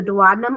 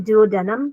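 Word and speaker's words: duodenum: dunum yep yep the dadum or the Dum you can pronounce it any way you want because I've heard it be pronounced both all know that that is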